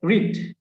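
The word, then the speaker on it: read: এখন এখানে কি হবে, এখানে কি হবে ভাইয়া, স্পেলিং তো একই, তাহলে উচ্চারণ কি ভিন্ন? অবভিয়াসলি উচ্চারণ ভিন্ন। কিরকম ভিন্ন? প্রেজেন্ট ফর্মে রিড হচ্ছে রিড, আর এটা হয়ে যাবে রেড, রেড। জাস্ট কি উচ্চারণটা ভিন্ন, রেড, রেড।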